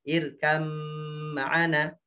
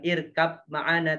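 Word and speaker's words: ارْكَبْ مَعَنَا: Irkam ma'ana. Bacanya bukan irkab ma'ana tapi irkam ma'ana.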